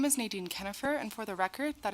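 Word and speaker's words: Nadine Kienhoefer: faucet and education committee members my name is Nan kennifer and for the record that is spelled n a d i NE kennifer is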